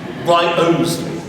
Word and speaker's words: Wriothesley: How do you pronounce the surname? Is it Wriothesley, as one member of the family signed his name, or is it Wriothesley, as on the memorial, or is it, as the Titchfield parish register has it, Wriothesley?